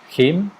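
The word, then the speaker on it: hymn: And in Spanish, him. How do you say in English? Yeah, him. A song. Him. Exactly. Song. That's why there's that weird N in him. No one pronounces.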